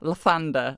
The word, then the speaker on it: Lathander: bus Fair fa rest lathander rhymes with a Mander e is in eels